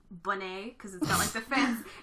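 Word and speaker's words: Buné: the first one is it's spelt like boon but it's pronounced bunny it's got the fancy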